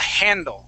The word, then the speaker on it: handle: When you pronounce the word, you used a silent H and you said handle. Okay. Okay, that handle. Word is handle, okay? With that small H sound, it's like a breath.